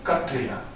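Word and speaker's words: Kshatriya: killing in the forest a Satria of course will will pronounce it as katria katria would go into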